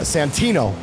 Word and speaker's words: Santino: you know not doing my job correctly uh Santino is how to actually pronounce his name and you think I'd take